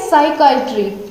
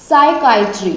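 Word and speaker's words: psychiatry: और अगला वर्ड क्या है, साइकाइट्री, ठीक है, पहले क्या था साइकेट्रिस्ट, ये क्या है, ये क्या इसका हम कैसे उच्चारण करेंगे, साइकाइट्री, ठीक है, साइकाइट्री।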